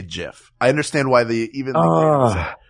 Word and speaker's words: GIF: understand why people say GIF I understand why they even this is why I think because he's looking at it as a word so it's a soft G not a hard G because it's not called